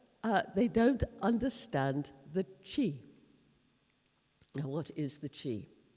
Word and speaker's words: qi: was the the highest uh religious symbol of china chi it's spelt q i in in in in english